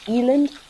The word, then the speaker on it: eland: You can also say eland. That's perfectly acceptable. Eland is more of the way that you pronounce it in Afrikaans, which is a language that is here, spoken here in South Africa.